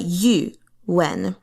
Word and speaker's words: Yuwen: Again, that's Zhang Yu, so not you, when, although you can do it, but Yuwen.